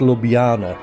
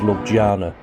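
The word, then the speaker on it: Ljubljana: is beautiful few shops of Luana yes it's pronounced Lana not as I was previously wrongly pronouncing it as lojana the bus dropped us right in the middle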